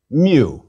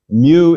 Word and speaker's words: mu: Mu. Mu is equivalent to M and pronounced like the M in man. Please repeat, mu, m.